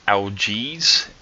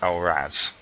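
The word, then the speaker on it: Algiz: Now the next one sometimes looks like algaes. That's how it kind of looks like it's pronounced, but it's actually pronounced Alraz.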